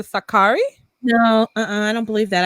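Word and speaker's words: Sakkari: we're saying names wrong a curry I guess the stress on the first syllable a curry as opposed to Sakaki no I don't believe that I spoke with her coach he called her Sakaki Sakaki - I mean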